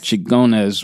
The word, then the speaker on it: Xingones: Xingones. Xingones.